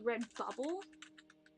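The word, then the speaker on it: Redbubble: Red, it's actually Red Bubble is how it's said, I guess.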